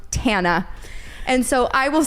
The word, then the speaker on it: Tana: of information then you know that it is pronounced tana and so I will say she should have